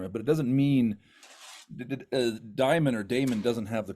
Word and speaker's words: Daimon: Jack Daimon.